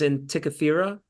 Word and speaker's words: Antikythera: And this, did you know that the object that they're after, I think it's pronounced Antikythera, Yeah.